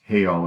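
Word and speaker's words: heall: Notice the emphasis on the importance of the hall, again pronounced heal in Old English, and the rituals of eating, drinking, talking, sleeping.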